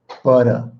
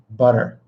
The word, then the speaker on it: butter: I do not say butter. Hey, give me the butter. Hey, babe, give me the butter. I want to put it on my bread. All right. I don't say that, okay? I say butter. And those are T's, but they're said super fast and super lightly.